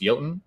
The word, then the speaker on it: Jotun: decks running jodan hurler I know that it's pronounced Yelton but I like to say Jotun to annoy my little brother but yeah it dies